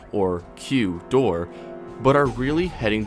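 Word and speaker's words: 九: speakers out loud remember how the number nine in Japanese is pronounced Q well that sound is of course nearly identical to the letter of the alphabet in both versions the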